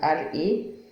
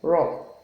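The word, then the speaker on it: ر: RO, raw. Although I think in some riwayah of the Holy Quran, like Warsh, I think raw fatha is being pronounced ra, but with certain conditions. But if you're using hafs, you must call it raw, as in RO, if it's carrying fatha.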